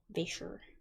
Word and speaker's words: Vasher: name right is it vaser is that how you say your name I I just want to make sure I just want to make sure I'm saying your name right before I keep pronouncing it like that vasher vasher yep okay cool cool hairy